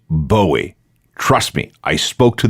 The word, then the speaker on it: Bowie: himself David Boi not buoy but Boi oh and let's be clear that's how you pronounce it Bowie not buoy not Bo although guitarist MC Ronson